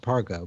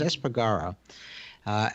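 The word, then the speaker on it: Espargaró: that Paul Esper Gorham I think I've been mispronouncing his name previously as this part as far go but it's s pagará and he has sort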